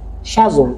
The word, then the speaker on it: schedule: No, it's not schedule actually. It will be schedule schedule if you follow British accent. But if you want to follow American accent, you have to pronounce schedule.